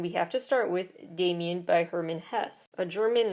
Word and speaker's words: Demian: German character names but what I have heard is it's Dam Damian even though it's spelled Demian it is a Coming